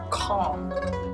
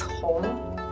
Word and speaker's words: Cong: A lot of American friends pronounce it as Kong, but it's not Kong, it's Hong. Alright, so you see how different it is.